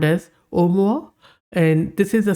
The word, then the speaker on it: Oumuamua: which is pronounced as omoa omoa is a Pacific or Hawaiian word that means a messenger